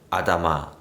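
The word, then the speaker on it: אדמה: 만들어졌다 라고 기록하고 있는데요 히브리어로 땅은 아다마 라고 발음합니다 창세기 1장에서 사람은 땅에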